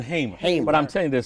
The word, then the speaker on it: Hamer: You know, for for for decades I've pronounced her name Fanny Liu Hammer. And you still And I know and I still do it now. It's Fanny Liu Hmer.